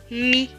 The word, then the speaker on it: amie: M et I, mi. Suivi de la lettre E, mais qui ne se prononce pas parce qu'elle est écrite en bleu. Donc ce mot va se lire ami, ami.